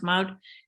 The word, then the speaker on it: Maud: My name in Dutch is Maud, pronounced Maud, and I was now or, and their last name Sprunk.